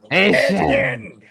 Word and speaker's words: Achane: Yes, not Devon Achane. This is Achane. Yes, or Achane for those I know Yeah, yeah, for sure, for sure. Achane. Yes, the Cajun pronunciation, the Cajun French way.